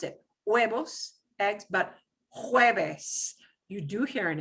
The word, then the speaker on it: jueves: Jueves, and you have to hear the ch.